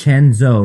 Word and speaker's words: Chenzo: But just to be clear, it's Chenzo, right?